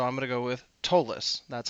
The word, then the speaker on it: Ptolus: going to pronounce tolus like the p in pterodactyl it's silent so i'm going to go with tolis that's how i've always said it i've been running a campaign in tolus for over three years